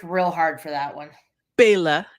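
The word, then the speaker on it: Bela: Here we got Bella Losce in here as Bella or Ba. Bella playing Bella. They worked real hard for that one. Bail, actually, if we're gonna say it correctly, and be all snoody like.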